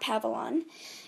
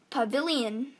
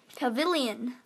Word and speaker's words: Pavilion: actually pronounced it wrong it's not pavalon it's a pavilion pavilion pavilion i don't know